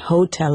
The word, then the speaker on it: hotel: Remember, the H is mute, right? So it's not hotel, it's hotel.